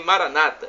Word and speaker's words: Maranata: protestantes nossos irmãos separados dizem Maranata o colocando a tônica na penúltima sílaba não tem problema continua